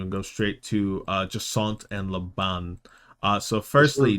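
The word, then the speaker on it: Jacinthe: I'm going to skip over these next two and go straight to uh Jant and Laban. Uh so firstly, J A C I N T H E in French is Jant.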